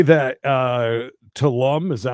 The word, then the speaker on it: Tulum: This thing does say that Tulum, is that how you say it? Tulum.